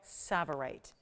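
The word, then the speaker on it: tsavorite: in the world and it's called savorite it's spelled with a t and then an S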